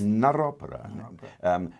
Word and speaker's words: Narropera: well well well pronounced is another opera narrate and opera not Oprah this is something for